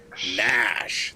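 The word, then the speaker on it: Gnash: It is started with a G. Nash. That's the one. The G is silent.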